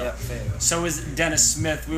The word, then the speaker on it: Fayetteville: I pronounced that right? Fayetteville. Fayetteville. Yeah, Fayetteville.